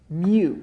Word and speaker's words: mu: is the parameter per mm is the parameter mu it's a greek letter it's pronounced m u and the sample mean that's